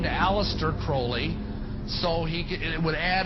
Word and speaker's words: Crowley: be have his name pronounced Crowley to rhyme with holy and the satanists today